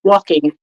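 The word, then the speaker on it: waulking: for to move to walk what is it spell it again please w a u l k i n g walking oh yeah see okay folks we are learning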